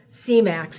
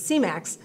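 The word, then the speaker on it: Semax: that help you get back to normal okay c-max is how you pronounce that thank you it's not semen it's c-max c-max is um it's a peptide that helps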